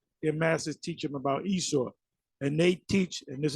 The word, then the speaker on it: Esau: and and Jacob and Esau yes Jacob and Asos that's how they say it didn't say Esau let's say Asos Asos and then they'll say